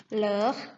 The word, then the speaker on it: leur: Untuk pengucapannya sama yaitu leur, hanya saja penulisan plurial ditambah s di belakangnya.